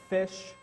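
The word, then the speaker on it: ghoti: example if you Google fish which is how you pronounce that uh you'll notice that the GH is f like in laugh uh o is it like in I I forget what and TI is sh like in definition right this is fish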